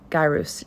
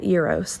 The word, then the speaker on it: gyrus: the cingulate gyrus and it's singulate c-i-n-g-u-l-a-t-e gyrus g-y-r-u-s not Euros like the uh like the sandwich but uh singular gyrus